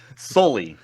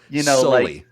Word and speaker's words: Soelle: How do you pronounce this guy's name correctly? Soelle. Soelle. Kind of like the monster from Monsters, Inc.